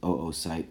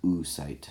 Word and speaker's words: oocyte: anatomically it's called an oocyte and most people pronounce it Oh site and not mu site so so the gametes a sperm from your father and an O site from your mother joined together and once those